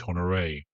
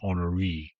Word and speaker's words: St Honoré: radio dramatization, and TV adaptations, the island is pronounced St. Honor. Here it's pronounced St. Honory.